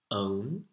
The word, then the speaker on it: own: Then we have own, O-W-N. I own something means I possess something, it belongs to me. Or I can own up to my mistakes means I admit my mistakes. O, own, O-W-N.